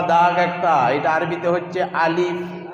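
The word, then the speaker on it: ألف: একটা, এটা আরবিতে হচ্ছে আলিফ। জি, আরবিতে কি হবে? আলিফ। আলিফ আলিফ আলিফ আলিফ যখন বলবো আমাদের উচ্চারণটা আলিফের কেমন হবে? দুটা ঠোঁট বুঝবে না, বাতাসের সহিত বেরোবে আলিফ শব্দ, আলিফ আলিফ।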